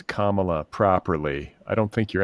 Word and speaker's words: Kamala: how do you pronounce it's Kamala it's like Kama like the the punctuation say Kamala is that what it is oh Kamala yeah just remember comma like you make a comma in a when you're